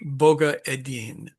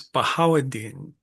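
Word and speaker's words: Bahauddin: Now you hear that name and you go what? There is no boggga in Arabic. That makes no sense. But you have to realize that Gerie's first language was probably Armenian and they love the G the like their favorite letter and so they stick them anywhere they can. So when we see Boga Edin, what we need to hear is Bahadin.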